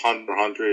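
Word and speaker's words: Hunter × Hunter: next is number five number five hunter it's pronounced hunter hunter even though spell hunter x hunter this is the 2011.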